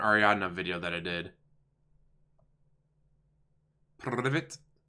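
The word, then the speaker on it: Привет: Privet. Privet. Gotta roll your R's.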